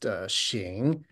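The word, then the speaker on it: 行: they chose to use, a particular character pronounced xing.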